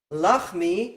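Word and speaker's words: לַחְמִי: Now in English, you'll think of it as having 3 syllables instead of 2. But in Hebrew, lachmi is 2 syllables And lachami, that word is also 2 syllables. So it's easier to just say, this word has 2 parts, lachmi. This one has 3 parts, lachami.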